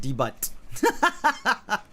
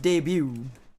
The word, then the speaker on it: debut: when i was a child i call it the butt i didn't know it was pronounced debut until i was much older and found out